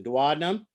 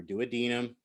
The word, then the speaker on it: duodenum: distinct regions right the duodenum or duodenum and you can pronounce it either way it's fine the ilium obviously and